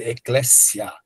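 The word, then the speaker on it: ἐκκλησία: CS grego. Então ele tem som de dois s, ecléssia, tá?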